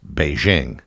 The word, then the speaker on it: Beijing: using the Roman alphabet under pinion the city name is pronounced as Beijing under the Communists the